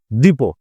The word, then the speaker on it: depot: vocabulary প্রশ্ন প্রশ্নটা হচ্ছে ডিপো এর উচ্চারণটা হচ্ছে ডি ই পি ও টি উচ্চারণ হচ্ছে ডিপো এই ডিপো মানে কি